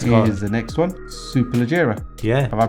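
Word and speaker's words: Superleggera: right the next here is the next one super legera yeah have I pronounced it correctly yeah a great job there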